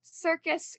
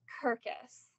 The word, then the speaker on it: circus: You pronounced circus Kirkus.